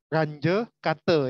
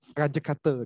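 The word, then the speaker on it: Runge-Kutta: Jadi cara bacanya ini adalah range kata ya. Nah, range kata. Jadi kayak saya kalau mendengar itu kayak bahasa Bali gitu ya. Tapi orang MIT itu range kata gitu. Bacanya. India kayaknya, Pak. Mungkin ya, nggak tahu, saya belum ngecek di Wikipedia ya. Jadi bacanya adalah range kata. Nah, kayak bahasa Bali ya.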